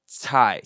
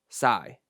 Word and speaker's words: cai: and it's pronounced as tai tai tai see that's right which is completely different if you would just read CAI in English terms it would be sigh sigh sigh see how